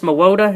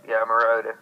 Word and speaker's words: Mariota: I can't pronounce his last name to save my life, but the Oregon Ducks quarterback Marcus Mariota, is that it? Mariota.